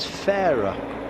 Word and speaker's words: Farrar: how it's pronounced that's how he wants it pronounced and then there's others like um uh Tyler Farrar we've been calling him Farrar for ages and and in fact it's a